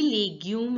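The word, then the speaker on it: légumes: accused so it is and you all know that the U is pronounced as a the English alphabet u in French and the S letter s is not pronounced so it becomes now listen to the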